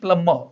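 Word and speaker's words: plumber: प्लम्बर।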